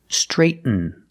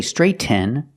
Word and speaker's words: straighten: Straighten, straighten. We don't say straighten. When you have a T-N, use a stop T, straight, and then fall to the end sound.